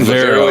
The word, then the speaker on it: Levaero: And so you're at, I always pronounce it wrong, Levaero. You got it, man. Levaero Aviation.